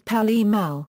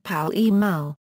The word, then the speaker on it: Pall Mall: of the brand was Pall Mall. However, after the Public Health Cigarette Smoking Act banned cigarette advertising, the pronunciation shifted to the phonetic form of Pall Mall.